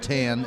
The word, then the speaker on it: Tan: So Gerald, it's Gerald Tan is his opponent. Gerald, Gerald. And tan spelled like the color or the skin tone, your choice.